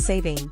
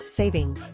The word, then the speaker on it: saving: the time change and why it's saving not savings as often mispronounced what is daylight Saving